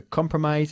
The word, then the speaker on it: compromise: agreement you have to compromise again emphasizing the first syllable you have to compromise if you want to